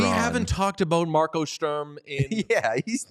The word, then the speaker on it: Sturm: No, it's Sturm. We get to we can spell German. We can pronounce words however we want to.